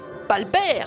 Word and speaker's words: Walbert: Walbert, il m'a répondu. Mais le W se prononce comme un V qui se prononce comme un B. Donc, Balbert, cela donne.